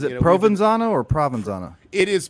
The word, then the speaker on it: Provenzano: Provenzano or Provenzano? It is Provenzano. Forgive me, I am used to saying Provenzano, but Provenzano is the correct pronunciation.